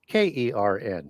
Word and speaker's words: CERN: CERN is an ancient Indo-Aryan word, spelt CERN and KERN, sometimes pronounced CERN, sometimes pronounced Kern, depending on how it's transliterated into other languages.